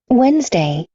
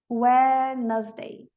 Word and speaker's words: Wednesday: Wednesday, Wednesday.